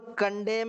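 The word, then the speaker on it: condemn: our traditional यहां पर देखना यह एन साइलेंट है इसमें इसको अपन कंडेम ही बोलेंगे च कंडेम द चिल्ड्रन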